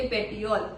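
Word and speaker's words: petiole: आगे में जभी भी आपको आएगा तो उसको हम यही प्रोनाउंस करेंगे। पेटियोल। ओके?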